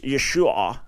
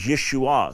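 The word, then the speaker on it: ישוע: that originally was pronounced Yeshua and it's an ion at the end that's not pronounced in in modern Hebrew today and that at a certain point the final a was kind of lost and yesu and and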